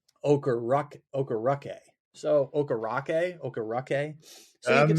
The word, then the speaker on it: Okereke: I think you just pretend like there's a U in there, an Okereke, Bobby Okereke, or maybe Okereke if you want to just put the word rock in there.